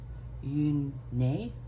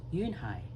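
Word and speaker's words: Unhei: "Yun-nay?" the girl asked, scrunching up her face. Ooh, nay," some kids chanted. No, Yunhai corrected. "It's spelled U-N-H-E-I. It's pronounced Yunhai."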